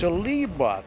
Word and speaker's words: Saliba: She said it's pronounced Saliba.